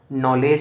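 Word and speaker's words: knowledge: silent है उसी प्रकार नॉलेज होता है नॉलेज में भी हमेशा के साइलेंट होता है इस तरीके के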